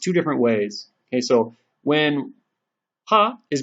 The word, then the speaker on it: は: So when it's a part of a word, we read it as ha. But when it's being used as a particle, we read it as wa.